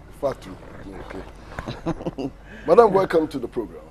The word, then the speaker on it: Fatou: pronounced the name correctly it's easier actually it's just Fatu Fatu Madame welcome to the